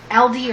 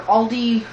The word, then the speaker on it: Aldi: Anywho, the stuff I'm going to show you I picked up at Dollar Tree and Aldi, or Aldi grocery store, depending on how you pronounce it.